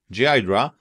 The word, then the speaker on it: Ghidra: Ghidra, pronounced Ghidra, though I admit I'm so used to my own way of saying it that I struggle to change.